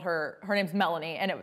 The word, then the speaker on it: Melanie: called her, her name's Melanie, and they called her Milani. And I was like, how do you even mispronounce Melanie?